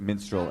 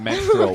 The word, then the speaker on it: minstrel: Also, if you want to do a bit about minstrel shows, make sure that you pronounce it minstrel and not menstrual, which is how you are pronouncing it.